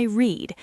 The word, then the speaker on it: read: It's spelled the same, but the sound changes. That's right. Today I read. Yesterday I read, like the color red.